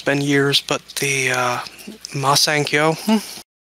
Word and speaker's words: Masenko: I even did, oh god, I hope I'm pronouncing this correctly. It's been years, but the, Masenkyo. Masenko?